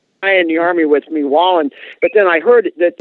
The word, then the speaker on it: Wallin: They pronounce it a little different, so Wallin or something.